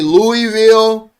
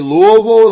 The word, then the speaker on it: Louisville: Some people say Louisville, some people say Louisville like I do. Some people say Lewisville. It's crazy.